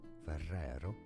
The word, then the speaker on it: Ferrero: well stay tuned so Ferrero Ferrero is how the Italian would pronounce this brand name this name from Italian